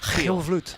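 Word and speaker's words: Giel Vlugt: Guys, let's try to pronounce his name right. Heel Vloed.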